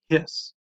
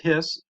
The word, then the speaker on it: His: known by the way as the bundle of hiss it's actually pronounced hiss for the anatomist who first described it but